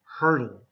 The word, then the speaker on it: hurtle: water and here hurtle most times we'll do this with a D sound hurdle okay hurl again I recommend